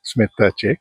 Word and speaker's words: Smetacek: You could put a soft T to it. Okay. Smetacek.